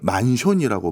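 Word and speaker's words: マンション: 형태가 있는데요 타워맨션이라는 겁니다 일본인들은 이걸 만손이라고 발음을 하는데요이 맨션이 뭔가 이렇게 좀 이거부터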